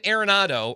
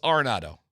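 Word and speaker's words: Arenado: It's like eight years we're saying Areronado and it's like no it's Aronado.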